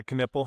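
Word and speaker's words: Knueppel: Is it Khan Kipple? Is that how you pronounce his name? Duke Canpple. Right. Yeah. Canipple. Okay. Canipple.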